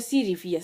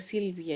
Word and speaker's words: Silvia: Mwingine unasikia anasema anaitwa Sirifia. Sasa Sirifia tena, ukiangalia tena upande ule mwingine pia naye anaitwa Silvia.